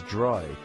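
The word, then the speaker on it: drei: The number three is dry. It sounds like the English word dry.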